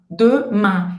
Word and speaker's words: demain: Esse an, ele é um som bem nasal que não existe no português. Porque ele parece um pouco com o nosso an, com aquele tio, né? Mas não é, tá? Não é o an de amanhã. Ele é mais nasalado. Para você fazer esse som, ele é um som que vem realmente aqui nessa parte de cima do nariz.